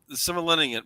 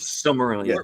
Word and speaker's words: Silmarillion: I don't know how to pronounce Red that Rum. thing. Roy Hames. Is this from the Similenian, whatever it's called? Silmarillion.